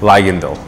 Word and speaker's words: Ligandal: I'm gonna ask for pronunciation like 5 times this show. That's good. It's yeah. good. Ligandal.